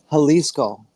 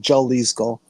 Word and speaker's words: Jalisco: in uh in Mexico, Halisco, which of course is spelled with a J. And it took years for them to be around before people stopped calling them Jalisco. Come on, Milwaukee. You have a huge Hispanic population here. Why are you saying Jalisco?